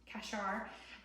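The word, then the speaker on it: qashar: And that word in Hebrew is kashar. If you wanted to spell it in the English, it would be something like Q-A-S-H-A-R, kashar.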